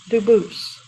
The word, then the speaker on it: Dubus: spelling in America, and they do pronounce it Dubus, but you said you pronounce it Dubus, Dubus? as the original Dubus, as the original French. Yep. Very well, Dubus.